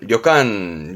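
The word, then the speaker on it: 旅館: 여관 발음은 료간, 료간.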